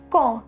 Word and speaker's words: quand: Quand. The pronunciation is quand, which means when.